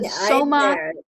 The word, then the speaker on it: somatostatin: How do you pronounce that? Peggy, you there? It's a somatostatin, yes.